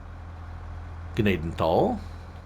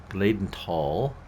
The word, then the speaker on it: Gnadenthal: say through running past Gaden tall Gaden tall the H is silent it's not a it's